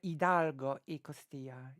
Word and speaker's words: Hidalgo: the original writing is Big Miguel idargo ecostia would be how you should read it like pronounce it right Miguel Hidalgo yeah because you don't really read the age in Spanish right Miguel Gregorio Antonio